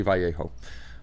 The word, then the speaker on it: Vallejo: have a great night yes it is actually vallejo uh as we were saying now i'm curious